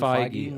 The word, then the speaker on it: Feige: it's Kevin Feige.